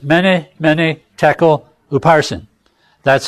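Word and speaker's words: mene: And that stands for many. M-E-N-E is how we would spell it. Many.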